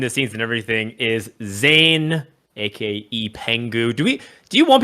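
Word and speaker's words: Zain: not how you say his name. You say Zan. It's Zan? Yeah. Because Because he's Pakistani, so AI makes an sound.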